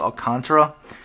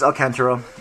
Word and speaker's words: Alcantara: pronunciation troubles of Alcantara I had actually looked it up I thought was Alcantara but it is Alcantara and it is feels